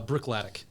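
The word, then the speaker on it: Bruichladdich: go how do you say it again uh Brook latic okay Brook ltic yeah so this one it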